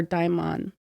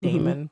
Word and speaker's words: daimon: or daimon. And it's spelled Daimon. Hmm. If anybody wanted to research it or look it up yourself or whatever. I think I pronounced it Damon by mistake.